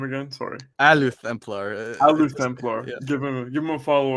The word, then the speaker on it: Luthemplar: How do I pronounce the new name again? Sorry. Luthemplar. Luthemplar.